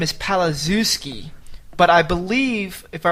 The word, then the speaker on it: Palaszewski: Yeah, I think in Eastern Europe they pronounce Z as a H. Palaszewski. I think it's that SZ combination, like Krzyzewski.